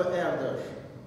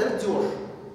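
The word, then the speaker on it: Erdős: Читается он там, ну если очень постараться, я, конечно, не венгер, я не справлюсь все равно. Но читается он как-то вот в оригинале типа Эрдош. Эрдош. Эрдош. Но если здесь рисовать вот это вот, то вообще получается Эрдёш. И очень многие прям так и говорят, Эрдёш.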